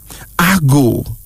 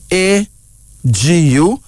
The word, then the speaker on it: Agu: Agu. A-G-U, Agu.